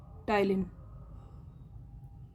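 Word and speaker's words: ptyalin: Salivary amylase या फिर इसी को बोलते हैं हम लोग टलिन। टलिन enzyme. इसमें पी साइलेंट होता है।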